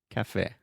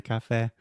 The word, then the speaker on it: café: So I was going to get coffee in a café. If you say café, Americans probably will not understand you. So with all of these things with acento agudo at the end, we say a.